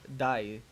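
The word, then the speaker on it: dais: to a white curtained die that's to pronounce it d-a-i-s die okay i'm just gonna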